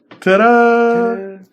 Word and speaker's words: Ta Da's: of the store it's like this now you tada yes and she could come in and